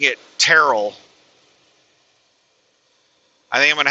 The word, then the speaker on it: Terrell: on how to pronounce Terrell, Texas. They were saying it's not Terrell, it's Terrell. Terrell, Texas. Instead of Terrell.